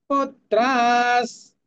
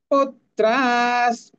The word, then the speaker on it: पुत्राः: পুত্রাস, পুত্রাস, পুত, প্রথমে হাফ ত নিলাম, বাকি থাকছে ত্রা, পুত্রাস তথৈব চ পিতামহাঃ।